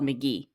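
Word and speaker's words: MK.gee: one is a musical artist called McGee and it's spelled mk. ge now I don't know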